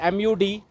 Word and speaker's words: Mud: So it is MUD. Some people will call it mud, but actual name in Hindi, if you'll pronunciate it, it is Mud village.